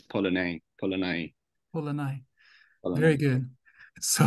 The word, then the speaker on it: Polanyi: Michael, so you know, I used to pronounce it as Polanyi, but yesterday I was like, oh, it's not Polanyi, it's Polanyi. I think it's Polanyi.